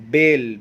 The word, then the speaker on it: bale: बेल, BALE, बेल। बेल का मतलब होता है गांठ, BALE, बेल। और दूसरा भी बेल है, pronunciation same, but they have the different meanings and the different spellings.